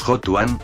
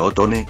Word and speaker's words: Hotone: algunos de sus productos de hecho en algunas páginas como toman si escriben el nombre como otone por lo que ese sería la pronunciación correcta y la más lógica si se analiza un